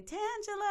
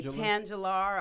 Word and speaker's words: Tangela: And so people would say Tangular or Tagula or Tangalar.